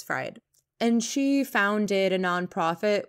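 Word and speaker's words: Freyd: new acronym coined by jennifer fryde i probably mispronounced that but it's not freed i think it's fried and she founded a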